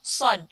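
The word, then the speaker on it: ص: ternyata bedanya seperti itu bacanya itu bukan Sin tapi sound saya nah seperti itu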